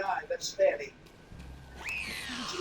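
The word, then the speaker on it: Fani: you know about fonny Willis is anybody fonnie pronounced f f n i that's Fanny she like said when she became the whatever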